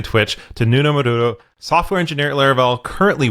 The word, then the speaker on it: Nuno Maduro: So, my name is Nuno Maduro. That's the way I pronounce it.